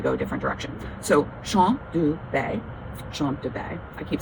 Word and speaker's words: Champ de Baies: for sure, but I did look up the pronunciation of the fragrance, and it's Shom du Baies. It's Shom du Baies. Shom du Baies.